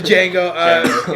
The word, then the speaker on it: Django: D is silent, motherfucker. The Django, in Django, like within the first 10 minutes, someone got shot.